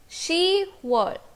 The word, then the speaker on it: 시월: Now you will see that 10 is 십, but again because of the same reason that we removed kyok from yuk while learning how to say June in Korean language, the same reason is applied over here also. Because it is difficult to pronounce 십월, pyup is removed from ship and we are left with she.